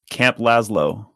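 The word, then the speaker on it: Lazlo: Camp Laszlo.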